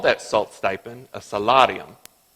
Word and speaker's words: salarium: And they called that salt stipend a salarium. Now, that pronunciation was spot on, for those of you who are wondering. But you Texans would probably pronounce it salarium.